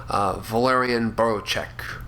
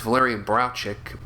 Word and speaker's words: Walerian Borowczyk: Hyde, directed by the famous Polish surrealist, sex filmmaker, animator, Walerian Borowczyk. I always used to say his name is Valerian Borowczyk, or Borowczyk, or what.